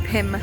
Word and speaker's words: Pym: all this time I've been calling it Pym Labs oh we're going to pyram labs and it's actually called Pim Labs so yeah as I say it was an amazing restaurant but I've been pronouncing it wrong the whole time huh